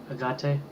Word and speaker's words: agate: Agate.